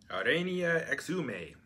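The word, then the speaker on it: Arania Exumai: Pronunciation is Rain E A X U May. Aranya Exumai.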